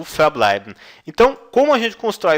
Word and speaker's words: verbleiben: eu usaria o verbo verbleiben. Verbleiben, permanecer, tá? Verbleiben, verbleiben. Lembrando que a letra V no alemão tem som de F.